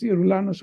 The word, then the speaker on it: Yeroulanos: Yeroulanos with a Y is pronounced Yeroulanos all over the world, but Yeroulanos with a G is pronounced Geroulanos, Geroulanos, or Yeroulanos, depending on where you are.